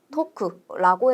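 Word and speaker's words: とく: 태랑 오의 발음을 합쳐서 토로 바꿔 줍니다. 그래서 테 오크를 토크라고 해 주면 되는 거죠.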